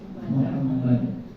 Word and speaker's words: Muhammad: Jadi bacanya Muham Muhammad.